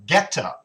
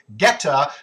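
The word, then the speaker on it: goetta: have come up with something called geta now it's spelled goe TTA if you're looking for it online but geta my old German friends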